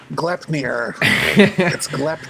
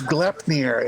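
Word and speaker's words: Gleipnir: no one pronounces correctly the glyph near glepmier everyone in the game is like cleveland columbus no it's it's glepnir it's literally bonus intelligence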